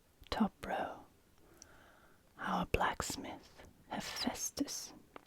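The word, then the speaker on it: Ἥφαιστος: black Smith a Festus now here we're going to start with the a because this is actually a capital AA it's going to be aspirated so you can put a an aspiration Mark there he he there we go that's our he sound because that's our e with an aspiration he you can also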